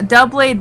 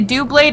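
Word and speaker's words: Doublade: They they put they say do blade and duo blade and I'm like oh you um it's d blade like double double blade.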